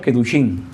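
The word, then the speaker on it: קידושין: Ustedes saben cómo se dice matrimonio en hebreo, Kidushin.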